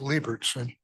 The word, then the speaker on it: Leiberson: Um, it's actually pronounced Leibertson, but that was pretty close.